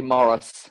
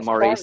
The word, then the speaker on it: Maurice: I'm actually Morris, opposed to Maurice. Sorry. Morris. The Americans tend to pronounce it Maurice.